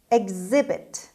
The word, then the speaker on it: exhibit: خب دقت کنید که استرس روی X هست، اما ما این X رو با 2 تا صدا داریم میخونیم. میگیم exhibit یعنی هم صدای گ داره هم صدای ز داره. در پرونانسیشن این کلمه، در تلفظ کلمه، ما استرس رو در واقع روی ز داریم میخونیم.